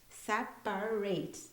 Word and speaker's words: separate: rooms for the interview whereas separate separate that's how you say it it's a verb and